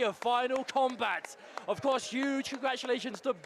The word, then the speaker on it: Kombat: Um, that was saying it's pronounced combat. No, he told me it was combat.